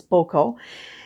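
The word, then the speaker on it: Gboko: a little town called boco pronounced g-b-o-k-o g was not um sounded out in it it was boko and i had no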